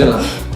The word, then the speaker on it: Gyllenhaal: And looking forward to seeing Mysterio on that because Jake Gyllenhaal. Yeah, Jake Gyllenhaal. It's pronounced Gyllenhaal.